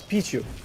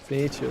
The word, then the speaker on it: Pichu: It's Pichu. The name is Pichu. That's how it's pronounced. Pichu. Like Pikachu, you know what I mean?